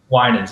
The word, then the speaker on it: Winans: Winans, yeah.